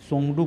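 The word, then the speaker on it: Tshogdu: भूटान के संसद को सोंगडू के नाम से जाना जाता है, यानी कि त यहाँ पे नहीं पढ़ेंगे, सोंगडू पढ़ेंगे, त को हटा के पढ़ेंगे साइलेंट करके।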